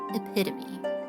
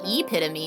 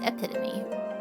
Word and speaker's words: epitome: It is pronounced epitome. Because English is terrible. And mugs other languages not only for their words, but for their pronunciations and their spelling. It's not epitome, it's epitome.